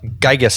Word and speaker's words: Geiges: Um, Gigas is how you say your last name, right? Correct.